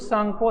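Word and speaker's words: Tsangpo: आपको लगेगा टी कैसे लग गया, तो सांगपो जब लिखते हैं तो TSAN ऐसे लिखते हैं, टी शुरू में आता है, साइलेंट आता है, ठीक है।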